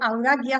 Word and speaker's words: Audacia: habitación de Dédalo, lainto, Audacia, que es la mía, o Audaquia, si la pronunciamos en latín.